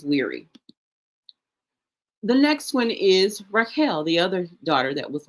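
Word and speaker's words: רחל: And so putting that all together, we would have the R sound, we have that het sound, and we have that L sound. So we would have reading along, we would have R, A sound, He, S sound, L. So it comes out Rachel. So it sounds like Rachel.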